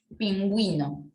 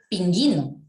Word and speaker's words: pingüino: solito en así quedarían pingüino profe y ahí porque nosotros colocó la gente porque vino de diferencia en pingüinos cuando pronunció no digo ping ino como si estuviese ping ino o dices pingüino disculpa la oración que